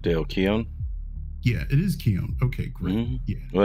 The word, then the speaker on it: Keown: yeah, it is Keown. Okay, great. Mhm. Yeah, Well, that's the way I pronounce That's it.